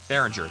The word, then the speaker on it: Behringer: It's the I don't know how to pronounce that. The Behringer TM1. Behringer. That's what. Yeah, Behringer. It's Behringer TM1.